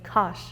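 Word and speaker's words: kar: In Turkish, we say kash. R sound at the end.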